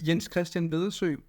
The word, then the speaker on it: Jens: how do you say in Danish actually I Yin which yeah it sounds awful in any language